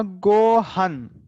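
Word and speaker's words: ごはん: तो इसका प्रोनाउंसिएशन रहेगा गोहन। An. गोहन, वो जो अन है, हाफ न, सो गोहन।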